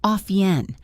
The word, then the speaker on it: often: Off yen, 2 syllables, soft T, off yen.